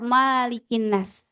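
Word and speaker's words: ملك الناس: Dalam bacaan Malikin Nas, ada yang membaca Malikin Nas. Tapi ini bacaan yang jarang ya. Tapi kalau kita dalam riwayat Hafs bacanya Malikin Nas, tidak dipanjangkan.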